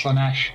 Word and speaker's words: Slaanesh: that is that snitch or tis how'd you pronounce that or was it slumish oh that's slaanesh yeah that's sluggish that's just a a hedge